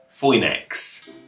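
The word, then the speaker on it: Φοῖνιξ: you're special to me that oy sound in the middle of phoenix was made with those two greek characters and if you look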